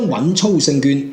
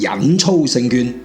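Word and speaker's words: 穩操勝券: 》裏邊，將穩操勝券讀成忍操勝券，都未必忍操勝券 㗎 ，忍操勝券 㗎 。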